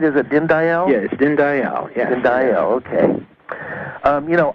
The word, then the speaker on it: Dinndayal: how are you greetings yes thank you I pronounced your name right is it din Dayal yes din Dayal and I okay you know I really loved